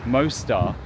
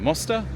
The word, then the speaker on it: Mosta: This place, Mosta. How should I say it? Mosta? Is that how you say it, Maltese people? Mosta. Not like Mostar in Bosnia.